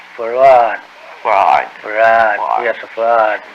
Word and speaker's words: Fard: F-A-R-D. Fard. Muhammad. Mr. Fard, did you say? Well, that would be the F-A-R-D? pronunciation in English, but we in the Arab yes, it's Farrad.